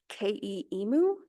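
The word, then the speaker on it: KE EMu: of their online collections portal which is within K emu that's how you pronounce it um that they these updates to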